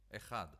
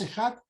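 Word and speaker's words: אחד: Ejad. Uno, que pronuncia en hebreo Ejad.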